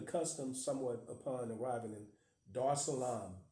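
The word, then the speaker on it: Dar es Salaam: I studied the custom somewhat upon arriving in Dar Salam D Salam that's spelled D a r e s Salon s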